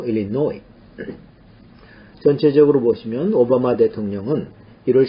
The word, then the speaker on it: Illinois: 끝에 있는 S는 발음이 되지 않습니다. Illinois. 노를 강하게 읽죠. Illinois.